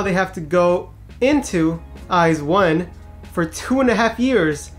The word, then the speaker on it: IZ*ONE: Not iZone, it's actually IZ1. You know, just in case you got confused, just like I did. Because I mean, who pronounces IZ as eyes?